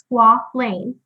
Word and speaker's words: squalane: So our third product, and I had to be taught this, but it is pronounced squalane, is used to help support a natural product or a natural compound that's found in your body called squalene.